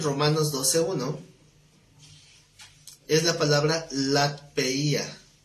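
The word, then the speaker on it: λατρεία: Aquí la palabra culto en Romanos 12:1 es la palabra latpeia. Lat, L-A-T, P-E-I-A, acento en la I.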